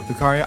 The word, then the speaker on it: Lucario: Lucario? Lucario.